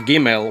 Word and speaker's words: gimel: For example, in Biblical Hebrew, as taught by Rabbi David Bar Haim, a gimel, when it has a daresh, it is pronounced gah. But when it does not, it is pronounced r.